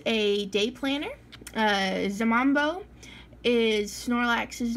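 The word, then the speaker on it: 잠만보: Zamambo is Snorlax's name in Korean, and I'm sure I'm butchering the pronunciation. The J is kind of like a J and a Z at the same time.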